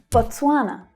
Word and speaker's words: Botswana: Botswana, Botswana. So the stress here is on the second syllable, twa. So it's a little tricky thanks to all of those consonant sounds there.